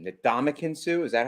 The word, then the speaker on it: Ndamukong Suh: I'm happy that I think, I can't say his name, the Ndamukong Suh. Is that how you say it? Ndamukong Suh, yeah.